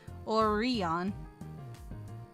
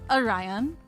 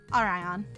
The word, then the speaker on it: Orion: McGillicuy, I would be saying Oreon like or Oreo. Maybe I just want Oreos. You guys have any Oreos? I like Oreos. It's Orion according to the Webster's dictionary.